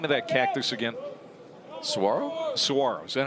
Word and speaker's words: Saguaro: Saguaro? Saguaro. Is that how it's pronounced? Saguaro.